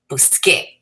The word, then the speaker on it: busqué: So we want a hard sound, so we change the C to QU, getting busqué.